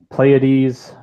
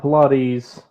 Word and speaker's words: Pleiades: That's Pleiades. Pleiades, not Pilates.